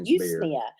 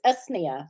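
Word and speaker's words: Usnea: to say oh yeah i used to say you used nia but everybody i talked to says no it's usnia so i don't know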